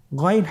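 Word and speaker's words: غين: এবং আমরা জানি যে গাইন হরফটি মোটা হারাফ অবশ্যই একটু মোটা করে বলতে হবে আপনারা আমার সাথে চেষ্টা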